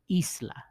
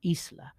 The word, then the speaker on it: isla: And this would have an accent too, because the emphasis in the is, isla. Notice the e is stronger than the la. Isla, right? Isla.